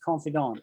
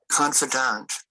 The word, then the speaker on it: confidant: No, I've only ever heard it pronounced confidant, right? Confidant. Confidant. Confidant. Confidant. I don't like the way he pronounces it. My way of pronouncing it is confidant. Slightly nasally, like the French.